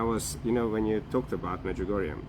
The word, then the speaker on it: Medjugorje: Medjugorje.